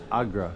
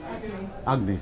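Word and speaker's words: Agni: that rises up to Agra the Lord of fire Agy sorry the Lord of fire take note of mispronunciation and then on the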